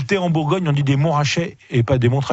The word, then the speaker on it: Montrachet: bien aller avec ça commence comme on ne prononce pas le thé en bourgogne en idées montrachet et pas des montres h et bien c'est